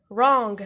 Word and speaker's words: wrong: so we have wrong wrong we don't pronounce this one this letter so it's wrong wrong it's in just dishonest